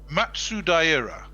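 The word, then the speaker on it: 松平: Matsudaira.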